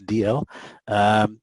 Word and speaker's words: Dalziel: Then Helen Dalziel, that's how you pronounce her surname. We've all gotten it wrong, so just for future, that for all those people that get to know her, it's DL.